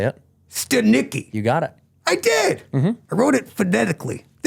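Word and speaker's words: Stanicky: Stanicki. You got it. I did. Mm-hmm. I wrote it phonetically.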